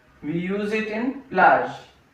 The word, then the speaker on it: plage: We use it in plage.